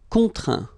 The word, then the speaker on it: contraint: Contraindre, contraint. Plaindre, plaint. Okay, and as usual, final T here is not pronounced, so you get craint, contraint, plaint.